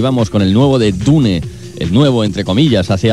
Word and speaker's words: Dune: diun si lo prefieres antes dije dune pero se puede pronunciar también de hecho se debería pronunciar dun Who wants to live